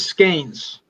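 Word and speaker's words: Skenes: Is it Skine or Skins? I think it's Scanes. Scanes. Paul Scanes. And if I'm mispronouncing it, I apologize. But that's the way I understand it's pronounced.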